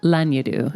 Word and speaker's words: Lanyadoo: Lanyadoo.